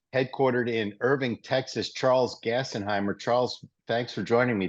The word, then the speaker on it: Gassenheimer: in Irving Texas and your last name is pronounced gassenheimer right correct there you go all right I'm